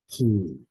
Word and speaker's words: chi: e, phi, iota, phi, chi, chi. It's going to be a little difficult to pronounce because it is a guttural sound. Try and kind of use the back of your throat.